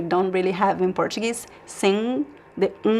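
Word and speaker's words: sim: Sing. Sing means yes. There's no m sound, right? Sing. Sing. Sing. You can pronounce more or less like the verb sing in English.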